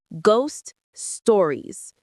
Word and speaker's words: ghost stories: The stress is on ghost and also on stow in stories. Say it with me, ghost stories.